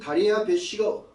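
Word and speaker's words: דריווש: 이게 다리오가 아니고 다레야 배시입니다. 히브리어 이름으로는이 다리야 배시가 누구냐면 파라스제 즉 페리시아 사람이 아니고 마다이 제국의 마지막 왕이었었습니다.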